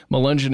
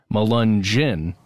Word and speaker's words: Melungeon: description of this episode malungen is spelled m-e-l-u-n-g-e-o-n and the concept of it the way it sounds at the very end of that word malunjin I can totally see